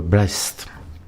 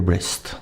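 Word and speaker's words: breadth: Je suis pas sûr du tout de la prononciation mais je sais l'écrire, c'est déjà bien. C'est B R E A D T H. Donc nous, on va dire que ça s'appelle le blest.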